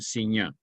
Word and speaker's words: Signac: seurat será seurat y signac se pronuncia en francés correctamente siña esos dos introdujeron esa